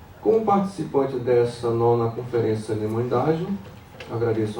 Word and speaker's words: Nimuendajú: Então, Nimoendágio, como é que é a pronúncia, né? Nimoendágio.